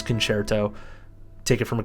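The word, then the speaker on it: Concerto: hitting stuff and also if people pronounce it conserto don't um actually them in their comments however just know for a fact that you are cultured because you know it is canare to so take it from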